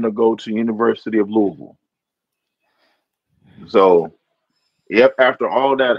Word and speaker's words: Louisville: Not not Louisville, Louisville. That's how they pronounce it. Louisville.